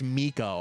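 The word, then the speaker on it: Mico: He goes by M-I-C-O, or like I think it's Miko. I'm pretty sure is how it's pronounced.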